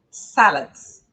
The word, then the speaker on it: salads: E se você quer pedir uma salada, olha aqui, ó, salads, salads. Sílaba tônica é a primeira, salads, ok?